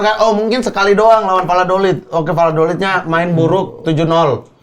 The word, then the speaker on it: Valladolid: Valladolid dan bermain di Champions musim Iya, ini juga iya, kan. iya, iya. Mereka bisa juga untuk menguasai semuanya gitu. Maaf. Aduh. Apa? Beneran itu Valladolid bacanya.